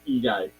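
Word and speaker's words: Eguy: a name dude how do you name him e guy I know that's how you say it so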